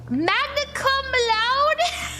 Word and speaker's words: magna cum laude: Magna cum laude?